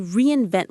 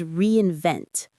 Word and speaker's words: reinvent: To reinvent oneself. The key word is reinvent. Reinvent. Reinvent. The primary stress is on that final syllable. Vent. Reinvent. Let's say the whole phrase together.